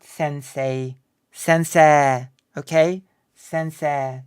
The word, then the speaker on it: sensei: Judo not Judo Judo you pronounce the e as long sensei you can't even